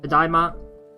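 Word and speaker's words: ただいま: Tadaima. So when you pronounce this, tadaima, I'm back.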